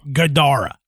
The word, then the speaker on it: gadara: said that it spoke a three-syllable word that sounded like gadara with the the like the second syllable emphasizing gadara so i'm i'm trying